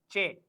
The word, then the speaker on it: che: Che. C-H-A-Y. Che. C-H-A-A-Y. Che. C-H-A-A-Y. That is che. The pronunciation of C is se, but C-H is che.